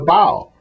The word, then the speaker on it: bow: In my world, the front end of a nautical vessel, the pointy end, is called the bow, which rhymes with how.